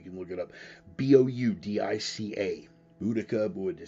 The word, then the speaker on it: Boudica: you so you can look it up b-o-u-d-i-c-a budika would say uh uh there are a number of different spellings and pronunciations all of which are acceptable for the